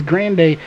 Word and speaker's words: Grande: radio with him and it is Grande is how you pronounce it so that is really